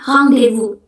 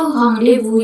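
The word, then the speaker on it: rendez-vous: Itu kalau dalam bahasa Perancis ee kita ngomongnya hang Devu. Hang devu. Jadi itu ada kepanjangannya. itu Hong Devu yang artinya meeting atau appointment gitu.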